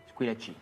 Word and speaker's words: Squillaci: Au nom de Squillaci. Squee? Lachi. Squillaci. Avec un chi, comme ça se prononce.